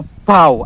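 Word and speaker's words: 宝: Jadi kalau teknik membaca koin kepeng, jadi yang berbentuk seperti manusia, itu harus kita taruh paling kiri ya, yang namanya bacanya adalah bau atau pau, artinya mata uang.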